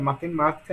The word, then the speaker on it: matemática: Matemática, a mesma coisa. Perceba que a sílaba tônica é ma, sendo que a última sílaba é K, a penúltima é ti, né, e a antepenúltima é ma. Então, se a sílaba tônica de matemática é antepenúltima, então ela é uma palavra proparoxítona.